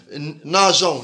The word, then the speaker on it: nageant: la particularité qu'ils ont, c'est E qu'on doit mettre au pluriel avant le O-N-S pour prononcer nageant, nous nageant.